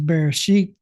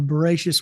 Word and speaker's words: Bereishit: first word of Genesis, which is Bereishit, which is Sephardic, or Bereishit, which is Ashkenaz, however you want to pronounce it.